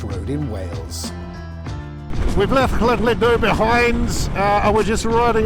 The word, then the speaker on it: Llandudno: But this is the great Orme, a random place just outside Llandudno, pronounced that.